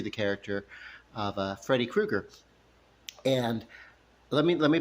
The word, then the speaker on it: Krueger: know he was Freddy Krueger some people called him Freddy Koopa at my middle school Koopa like uh whatever they mispronounced it or whatever not me